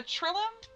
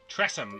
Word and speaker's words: Tressym: You said a trillium? Tressum. It's, Tressum. let me spell that for you.